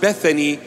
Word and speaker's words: Bethany: called Bethania or Bethany in English it is pronounced Bethany but in the original